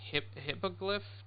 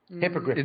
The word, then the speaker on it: hippogriff: the broom and you can fly on the hippoglyph. Did I say it right, Flemish? Hippogriff.